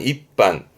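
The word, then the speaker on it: 一般: 한 마리는 입비끼라든가 그런 식으로 스 다음에 하행이 보이면 초금 변형에 동그랗게 반타금 붙는 게 공식이라는 거. 그래서 입반이 된 거예요.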